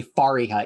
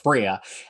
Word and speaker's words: Fariha: every video and i try really hard to say fariha even though my philly accent often makes it sound like freya but people want your